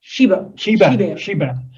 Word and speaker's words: Schreiber: So Laurent, how you pronounce Schreiber? Schreiber. Laurent Schreiber. Yeah. Yeah. French, yeah.